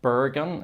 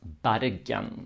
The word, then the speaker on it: Bergen: The biggest city there is not Bergen. It's bad again. So the first vowel here is pronounced as an a.